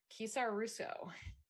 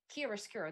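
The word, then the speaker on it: chiaroscuro: a very cool illuminating effect to it um kisara russo i i know that i messed up pronouncing that um oh it's kia skiro that's what it is that's what it is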